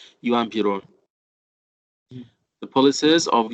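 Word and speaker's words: Juan Perón: Once again, the yeah sound in here. It's not just sound, it's yeah sound. Yuan Piron. The policies of Yuan Piron.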